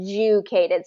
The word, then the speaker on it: educated: educated we say Ed educated so it becomes a j sound and then the Y so say it one more time for me educated and then it's going to be first syllable stress so we're going to